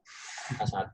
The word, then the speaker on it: H1: Nah, ini bacanya lebih parah lagi, Hi ya, salah ya. H1 gitu ya.